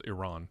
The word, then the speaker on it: Iran: of them are acceptable, but Iran just sounds a little rednecky to me. We're bombing Iran. I like how they call it alternative English when I looked it up. But yeah, the proper pronunciation is Iran.